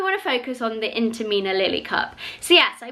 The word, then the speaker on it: Intimina: So this is like your average menstrual cup, and this is the Intima, is that how you say it? Intimina, that's it, Intimina Lily cup.